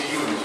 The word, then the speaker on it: Iulius: Seria a pronúncia Iulius, né?